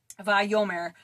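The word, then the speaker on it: וַיֹּאמֶר: And um you would pronounce it vyome. vayome and it means and he said the Hebrew letter at the beginning of that word is called ava.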